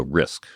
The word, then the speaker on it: RISC: instruction set computer and the abbreviation was RISC and typical for computer people we use the abbreviations start pronouncing it so risk was the thing so we